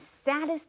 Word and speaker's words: saddest: noticed that it happened。At the very lowest and saddest times of his life, OK, sad 这里有一个字叫悲伤的 sad。那 sad 因为是单音节是子音、母音、子音，那比较特别的是，它要变成最高级的时候，一定要重复一个 d sad，saddest，OK。同学们不要看到2个 d，为什么我们选这个字出来讲？不是因为它的意思，这个意思大家国中都学过了，没什么好讲。但是因为它的发音，很多同学看到2个 d 就会很想念2个字，都把它念出来 saddest，这样就不对了。好，我们这一课一直很强调同学们有一些子音的发音，要让它修饰的漂亮一点 saddest，不是 saddest，OK，saddest。好，再念一次